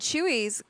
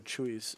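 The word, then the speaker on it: Chuy's: And Chewy's, Kaiser, fun fact for you, is it's spelled CHUY''S. Got you there. Hey, Lady May. Ooh, percolating. I don't know if they do have a Chewy's.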